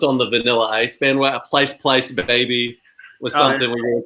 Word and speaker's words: Pleiss: Yeah, Pleiss. Rhymes with nice.